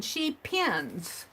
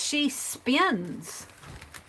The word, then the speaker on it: She Spins: And it's, I was pronouncing her name wrong. I was saying She Pins. And it's She Spins.